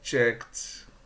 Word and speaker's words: checked: I checked the baggage. Checked, não é checked. Checked. Aqui tem que fechar com T.